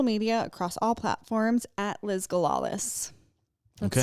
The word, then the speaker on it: Liz Galalis: You can find me on social media across all platforms at Liz Galalis. That's spelled LIZGALALIS. Like gala? Gala like a party, Lis like lisp without a P.